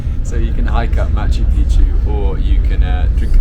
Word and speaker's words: Machu Picchu: But you have to pronounce correct, because if you say Machu Picchu, Picchu means pennies. That is the correct way, Machu Picchu in the Quechua.